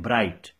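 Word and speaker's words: bright: मसलन आपने लिखा बी आर आई जी एच टी, तो ये उर्दू जैसे नहीं है कि आप जो लिखते हुए पढ़ते हैं, नहीं ये है, लिखते तो आप बी आर आई जी एच टी है लेकिन इसको आप पढ़ते हैं ब्राइट, तो उसका प्रोनाउंसिएशन जो है that is totally different from what you राइट।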